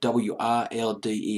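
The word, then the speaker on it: Wilde: a solemn and Danny wild WI L de l pronounce it as wild they formed the Rembrandt's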